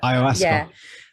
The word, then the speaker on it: Ayahuasca: Is it Ayahuasca? I can't remember how to say it, but Ayahuasca.